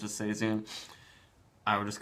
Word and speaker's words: Seizoen: Actually, every Logsdon beer is special, but this Logsdon Seizoen, they pronounce it Seizoen, or tell you to pronounce it Seizoen.